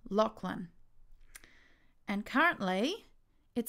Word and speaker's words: Lachlan: to hear it Lachlan so that doesn't quite sound right so to get it right I now type how I would like it to sound in this pronunciation field so I would type LOC and Lin breaking the word into the syllables now let's press speak